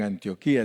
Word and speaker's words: Antioquia: Ellos no le dicen Antioquía, le dicen Antioquia. Yo no sé por qué los colombianos le dicen diferente a nosotros, ¿verdad? Porque tiene acento en la última I, Antioquía. Pero ellos le dicen Antioquia. Le ponen el acento en la primera I.